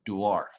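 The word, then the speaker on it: Dewar: a liquid nitrogen duart notice how i pronounce that word duor not doer because we have to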